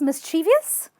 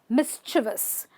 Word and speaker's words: mischievous: um i was mischievous do you want to call it a mischievous well not really you can't call it a mischievous because i was mischievous mischievous this is just a chore and it's a vis so miss like i'm miss miss seema miss mischievous mischievous okay okay there's another